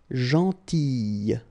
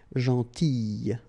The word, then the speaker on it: gentille: Alright, same thing here, gentille. Okay, so remember to pronounce this I, gentille.